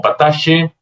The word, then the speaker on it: pataxte: Y se escribe pataxte, pero en algunos lados lo conocen como patache, cacao cimarrón e incluso chocolate blanco.